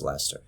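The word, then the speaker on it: Leicester: of like people who told me it's pronounced lester i hope i pronounced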